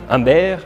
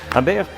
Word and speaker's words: Humbert: Conozcan a un asesino y pervertido sexual, Humbert Humbert. El nombre elegido por Nabokov hace referencia a la sombra, que se pronuncia como ombre en francés, que significa sombra, porque Humbert llevará a Lolita a un mundo de sombras.